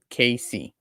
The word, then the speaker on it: Casey: So Casey is pronounced KC.